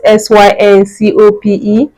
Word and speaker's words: syncope: It is spelled s y n c o p e.